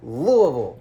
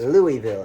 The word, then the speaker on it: Louisville: four the Louisville Cardinals you said it wrong I did say it wrong cuz that's how everybody says it it is Louisville it is not Louisville it's not Louisville are they not in